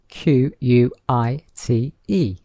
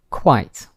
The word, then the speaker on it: quite: pronunciation of this word quite quite so you can hear that it is one syllable and the sound is